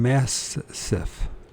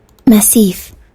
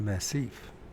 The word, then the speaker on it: massif: keeps using it in massive what is a massive and then we're going to find if we pronouncing it right Massif it's a Massif it's a compact group